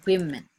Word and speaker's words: women: women all right yeah we say that or we pronounce that as women women okay all right number